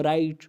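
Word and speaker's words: write: ये जो डब्ल्यू शुरू में आया है ये साइलेंट होता है। तो अगर आप इसे अपनी तरफ से पढ़ेंगे, जब आपको ये बात नहीं मालूम होगी तो आप गलत कर रहे होंगे। तो इसलिए ये जानना ज़रूरी है कि डब्ल्यू उसके बाद आर हो तो उस वक्त डब्ल्यू को साइलेंट किया जाता है।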